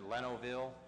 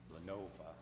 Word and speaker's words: Lenovo: advertising for bids to purchase up to 37 Lenoville computers, 5 docks, and 5 DVD players from Lenoville, if I pronounce that right. Lenova.